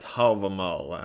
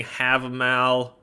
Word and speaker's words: Hávamál: looking at havamal and that's how you say it stop saying have a mal okay stop saying i say havamal usually because i'm norwegian that's how we say it there or if you really want to say it right an old norse you can say okay but stop calling it have a mel okay you're sounding like